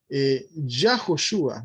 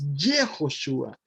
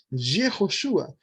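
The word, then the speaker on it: יהושע: No empieza con Yud, Hei y nada más, que diría Yahoshua, ¿verdad? Hay muchos que dicen, no, es que es Yahoshua, no, es Yehoshua.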